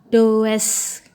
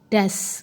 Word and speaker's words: does: Sedangkan di kalimat negatif does. Kalau orang-orang murid-murid Bu Nida bacanya does salah ya, yang benar adalah das gitu ya.